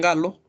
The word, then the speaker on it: Gallo: Galo, ¿no es cierto?, o Gallo como nosotros decimos, ellos pronuncian Galo, ¿no es cierto?, en la Universidad de Los Ángeles, me parece, ¿no es cierto?, o California, perdón.